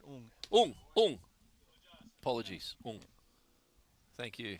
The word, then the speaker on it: Ng: I think you pronounce that ung.